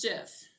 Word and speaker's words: GIF: 89 and also like it's pronounced jiff but there's basically no